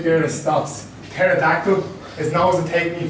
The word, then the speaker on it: pterodactyl: A dinosaur with a silent letter is very tactful. You're slightly taking the P. Pterodactyl.